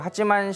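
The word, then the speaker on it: 八幡: 그래서 우리나라 말로 읽으면 8번 궁, 8번 신사 이렇게 많이들 이야기를 하는데요. 그 일본어로는 그걸 이제 하찌만이라고 읽습니다. 그래서 그 하찌만 신사의 총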